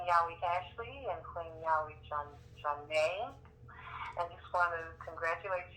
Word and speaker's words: Johnnate: Johnnate. Johnnate. John. Johnnate. Johnnate. Praise Yahweh. Well, praise Yahweh. We're so happy to have you here on Yahweh's Increasing Opportunity Show, Queen Yahweh Ashley and Queen Yahweh Johnnate.